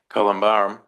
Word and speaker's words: columbarium: Columbarum. It's yes. That's how you say it.